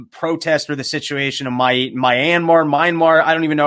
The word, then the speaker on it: Myanmar: I've not clicked on a single article about the protest or the situation of Myanmar. I don't even know how it's pronounced. Myanmar. It used to be Burma. It is now Myanmar.